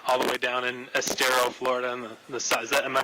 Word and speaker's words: Estero: I can only imagine it was a lot of fun all the way down in Estero, Florida. And am I pronouncing it right?